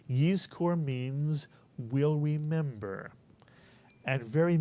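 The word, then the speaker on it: יזכור: So the first syllable would look like this, and it would be pronounced yiz, mitsuyan, yiz. And the second syllable is easy, kor, mitsuyan. Put the word together, you get yiz kor.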